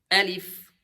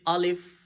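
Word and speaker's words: ا: Alif. So sometimes we say alif. No. Alif. Alif. Alif. Alif. You see smile.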